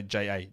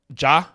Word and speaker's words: Ja: the way I pronounce Ja. I don't really know how you expect me to say it. Oh, you say it like it's Ja, J-A-R. Yeah? How else would you say J-A?